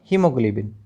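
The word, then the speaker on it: haemoglobin: इन दोनों ही शब्दों के अंदर, उन दोनों ही वर्ड्स के अंदर क्या है, जो ए है वो साइलेंट है, मतलब ए का जो उच्चारण है वो नहीं किया जाता है। ऐसे ही यहाँ पर भी दूसरे शब्द में भी, हीमोग्लोबिन में भी ए का उच्चारण नहीं है।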